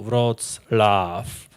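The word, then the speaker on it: Wrocław: press Lao Breslow preslavia nowadays it's called vrozlaff and there was a there's a proper pronunciation of this name there is Love Inside us as you probably know rods laugh what is love everybody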